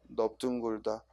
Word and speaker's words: 넓둥글다: 우리가 원래 넓다는 리을로 발음해야 되는데 비읍으로 발음하는 게 세 단어 있다고 그랬지? 그 세 단어가 뭐예요? 넓적하다, 넓죽하다, 넓둥글다.